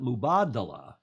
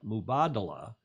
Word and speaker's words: Mubadala: the slides this is the mood and they pronounce it mubadala with the occento on the second paragraph mubadala and the i'm going to have run a